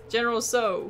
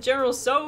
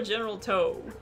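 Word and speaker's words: General Tsao: go phoenix general toss general so so i keep forgetting the t is silent oh it has hairy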